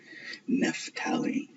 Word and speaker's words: Naphtali: up Naphtali and you look at the Catholic pronunciation, it was Naphtali.